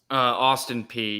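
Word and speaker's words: Austin Peay: Isn't Austin P, as you pronounce it? Because I know that's a Tennessee school. Is that right? Austin P, yes.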